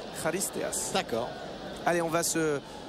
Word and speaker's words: Charisteas: C'est un peu la même prononciation que Charisteas, puisque chez les Grecs, on dit Charisteas.